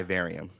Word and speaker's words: Vivarium: Vivarium. It's kind of say it. Go ahead. It's in the room requirement, but it's called the Vivarium. Vivarium, yes.